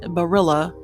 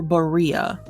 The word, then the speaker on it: Barilla: is it Barilla or Berea you'd never get that because I know the Spanish pronunciation two L's makes a y sound but uh every time I hear it advertised it's Barilla uh Barilla pasta is